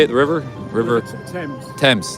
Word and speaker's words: Thames: River Thames. Thames.